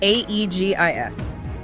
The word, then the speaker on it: aegis: The word is egis spelled AE G I S and pronounced either Eegis or Aegis.